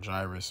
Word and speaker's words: Jairus: I mean, it's spelled like kind of like Jairus or Jairus, but I'm going to say Jairus through the Spirit.